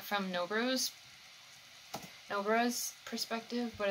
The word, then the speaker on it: Nobara: Is Sayori gonna figure out or find out about Nobara? That's how you say it. Why have I been saying Nobaru?